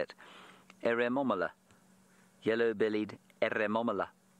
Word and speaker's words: Eremomela: Eremomela. It's exactly as you say it. Eremomela.